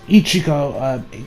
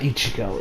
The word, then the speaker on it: Ichiko: met on the game her name is Ichiko not Ichigo is it's not Ichigo at it cheek Ichiko